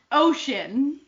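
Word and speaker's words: 5tion: oh my goodness okay their name is pronounced ocean because the korean five is oh yes oh [ __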